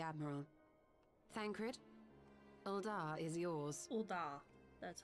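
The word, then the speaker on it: Ul'dah: Uldar.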